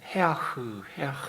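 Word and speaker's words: הֶאָח: 그러면서 아하 아하 하는 자들, 아 하면서 기뻐하는 자들, 또 조롱하고, 아하라는 것은 원래는 헤아흐 하니까 해 이런 식으로 발음이 날 텐데요.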